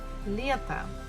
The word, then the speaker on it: лето: Буква E is stressed, so we have to pronounce it as E, as it is. But next one, the last syllable, we have to, T-O, to. And here O is not stressed, so we pronounce it actually as A. So it will be like this. Лето, лето, summer.